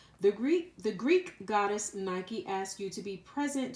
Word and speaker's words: Nike: last week I believe Nike I believe this house she's actually pronounced just like the shoe because I know the shoe company named their shoes after her so Nike the goddess